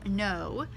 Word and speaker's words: know: silent w known also know that the word know has a salient K we know the homophone